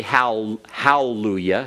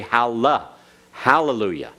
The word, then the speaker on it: hallelujah: you know Hallelujah right you don't say Hal Hallelujah you say Hala hallelujah hallelujah all right and you're pronouncing the Hebrew correctly when you do that all right it's